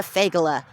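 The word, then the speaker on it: feygele: And I said, "Also, say it slowly. You're a fagala. Pronounced you're a fagala. Fagala is Yiddish for that word."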